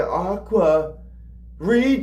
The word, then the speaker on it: Aqua Regia: Aqua Regia. Aqua uh Aquaria. Aquaria. Um, it's it looks like it's pronounced Reia, but how Vessel says it Aqua Rea.